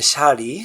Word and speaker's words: Shirley: So her name is Shirley, pronounced Shari.